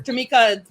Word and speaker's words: Tamekia: it sound to me yeah and i keep telling them the eye is silent and my third grade